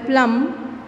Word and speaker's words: plumb: Plum, m is pronounced where plum, b is silent.